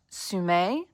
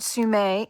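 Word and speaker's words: semé: I did look this up, and it is pronounced Sume. This doesn't have the accent over the E, but I think it's meant to. And I'm going to show you on screen.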